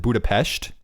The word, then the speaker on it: Budapest: capital capital city uh Budapest and they pronounce it Budapestt and okay their flag